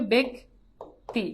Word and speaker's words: ব্যক্তি: হবে জফালা আকার হবে কিন্তু যদি রসিকার হয় যেমন ব্যক্তি যদি জফালা যুক্ত শব্দ যদি রসিকা থাকে তাহলে সেই বফালাটা সেই জফালাটা এ কনভার্ট হয়ে যায় তাহলে এটা কি হবে বেগ টি বুঝছো এইটাই জাস্ট এই